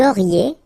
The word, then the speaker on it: auriez: Vous auriez, little link between the two, vous auriez, and then, ils auraient,